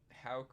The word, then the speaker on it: Houck: they're also calling up tanner hauck i believe it's pronounced um houck was he was in